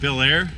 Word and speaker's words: Belleayre: what's up guys we're at Bel Air that's how you say it Fresh Prince of Bel-Air so we're going to